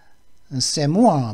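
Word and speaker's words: c'est moi: 세모아 발음은 세모아입니다.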